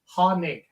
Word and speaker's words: Hoenig: That'll be the first part of the podcast because it's H-O-E, like a hoe. So you don't know if it's a Hoenig, a Hoenig, or what, but it's Hoenig.